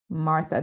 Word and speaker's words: Μάρθα: Martha, the accent mark is on the first syllable usually.